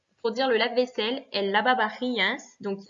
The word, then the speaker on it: lavavajillas: dire le lave-vaisselle, el lavavajillas. Donc, il y a à chaque fois VA, VA. Hein, attention, le V se prononce B, donc el lavavajillas.